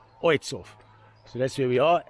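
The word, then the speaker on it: Ojców: to a place called Oitzhof. Oitzhof. Okay, if you English and you try and pronounce it the way it looks, it looks like Ajawa. But in Polish it's pronounced Oitzhof.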